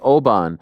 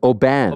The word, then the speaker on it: Oban: the way is it Oban it's Oban yeah oh so we keep saying wrong huh we saying I'm saying like auan but it's Oban Oban it's like it's